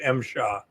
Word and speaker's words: MSHA: The acronym is pronounced MSHA.